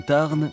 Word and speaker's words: Tarn: Normal, ici on dit le tar, on ne prononce pas le N.